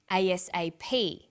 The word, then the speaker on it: ASAP: Notice that each letter in the abbreviation is pronounced separately, but the last letter is pronounced more strongly because it carries the primary stress. So we say USA, ASAP, ABC, and TV.